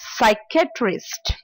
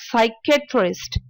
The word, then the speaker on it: psychiatrist: psychology with silent P next one is psychiatrist psychiatrist is a doctor who can prescribe you the medication of you have if you have a psychological problem again we take out P so it is psychiatrist next one is pneumonia